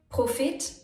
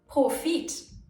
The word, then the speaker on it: Profit: Kritik or Kritik. Politik or Politik, Kredit or Kredit, Profit or Profit. These are examples for foreign words that have been adapted, so the rules for pronunciation are not as strict. Personally, I like to pronounce the vowels long, Profit, Kredit, Politik, Kritik, because that's what standard grammar rules would suggest. But there's no right and wrong here.